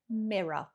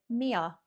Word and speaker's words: mirror: UK anyway, everyone is everyone pronounces this mirror. But I've heard I've heard this said an awful lot by a variety of Americans from different states and you guys pronounce it mia.